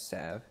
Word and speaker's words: salve: He's got a salve. Don't worry. He has now salvaged the lane with that salve. Did you know the actual pronunciation is Sav?